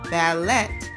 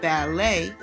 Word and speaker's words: ballet: this word and said ballet instead of ballet because you didn't know that the t is silent so what is a